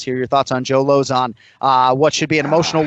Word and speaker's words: Lauzon: We call him Lozon in the UFC. It's one of the easier names to pronounce incidentally. Just say opposite of high, it's Lozon.